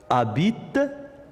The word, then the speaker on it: habite: Farid habite en ville. Farid habite en ville. Donc, Farid, il lui manque la lettre F. Habite, il lui manque la lettre H. Et on ne prononce pas le H.